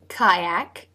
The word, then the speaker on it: kayak: through for the L kayak spelled with a Y but it is the AI as in buy diphthong yak and the tongue raises